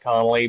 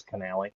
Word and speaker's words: Connally: Pretty much everybody pronounces it Connelly, but it's it's Canali.